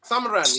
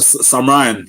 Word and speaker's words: Samarine: Um, how do you say Samarine? Samarine, yeah? Yeah, Samarine. Samarine. But, just you just call me Sammy.